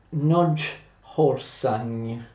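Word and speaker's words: Nagyharsány: gravissima, la sconfitta di Nagy Arsani. In ungherese si pronuncia più o meno Nagy Orsany.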